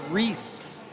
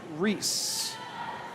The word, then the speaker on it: Rhys: I just Googled pronunciation of r h y s and they're saying Reese. I apologize. I've been saying it wrong. So, we have Carus and Reese.